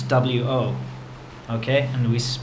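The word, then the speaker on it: 我: me in Chinese is well in pinion it's wo okay and we pronounce it w okay W so w is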